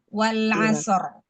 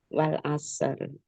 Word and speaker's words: wal asr: Kalau kita mau putus per ayat, maka kita bacanya tetap harus wal asr. Wal asr.